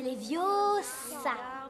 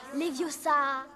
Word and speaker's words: Leviosa: C'est Leviosa, et pas Leviosa.